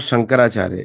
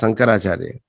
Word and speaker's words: Sankaracharya: It's not Shankaracharya, it's Sankaracharya. Am I right? It depends on the accent because in South India, especially in Andhra, they Uh-huh. call it Sankaracharya.